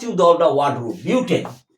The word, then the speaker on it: butane: 2 3 dimethyl methyl methyl butane butane. Tane, not butene. The pronunciation is very important.